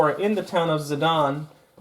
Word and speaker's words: Sedan: in the town of Sedan, or Sedan, if you want to pronounce it like a Frenchman would, after the battle in 1940, and after the Germans had captured the town.